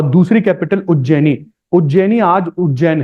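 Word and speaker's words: उज्जयिनी: उज्जैनी आज उज्जैन है। This was प्रोनाउंसिएटेड as Ujjaini. इसमें वाई और आई और लग जाता था, उज्जैनी हो जाता था।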